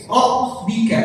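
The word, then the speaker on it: رَبِّ: Jangan dibaca pakai P. Rabbika, tapi Rabb dibaca pakai huruf ba. B.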